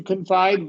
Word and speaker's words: confide: uh confide confide first to confide verb uhwah at the beginning stress on the second syllable.